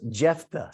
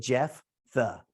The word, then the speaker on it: Jephthah: We're going to be looking at, this is pronounced Jephthah. So if you're going to enunciate it, Jephthah, that's how it's enunciated.